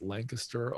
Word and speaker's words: Lancaster: housing community in um I believe it's Lancaster Ohio that's how they pronounce it there south of Columbus this